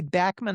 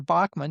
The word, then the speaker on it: Bachman: Burton Cummings and Randy Bachman or Bachman, depending on which pronunciation you want to use.